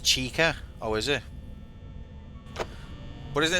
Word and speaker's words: Chica: Bonnie, checker, Freddy, and Foxy.